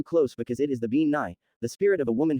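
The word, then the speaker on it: Bean Nighe: brook or stream and it is actually pronounced Ben yay if she looks hideous and has webbed feet then it is best not to get too close because it is the bean NY the spirit of a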